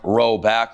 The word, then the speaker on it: Roback: Roback, pronounced Roback, like you're rowing back.